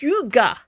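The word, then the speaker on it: hygge: it says beautiful now I think this word is pronounced Huga it's it's Scandinavian beautiful Hugo scene inside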